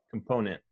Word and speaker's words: component: the sounds you know it's not wrong to say the t um but it's not so common for an american to pronounce the t so we would say component component yeah exactly okay